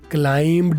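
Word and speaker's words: climbed: क्लाइम्ड नहीं बोलना, इसमें बी साइलेंट होता है. क्लाइम्ड बी इसमें नहीं बोलना.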